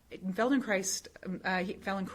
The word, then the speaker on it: Feldenkrais: And Feldenkrais, it rhymes with ice.